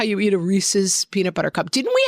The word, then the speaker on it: Reese's: It's Yeah, it's Reese's. Like, it rhymes with pieces.